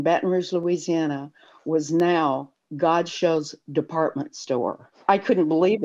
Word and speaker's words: Godchaux: Louisiana, and there was Godchaux, and there was Godchaux Sugar, and that was big down here. They called it Godchaux in the South instead of Godchaux. You know, we always had the French pronunciation.